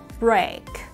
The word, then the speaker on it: break: Từ đầu tiên của chúng ta là break, break, break. Ok, chữ cái chữ e và chữ a ở gần nhau chúng ta sẽ đọc là âm a.